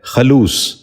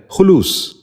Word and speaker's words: خلوص: خلافت۔ چھٹا لفظ ہے خلوص۔ یہ غلط تلفظ ہے، درست تلفظ ہے خلوص۔ دوبارہ غور سے سنیے،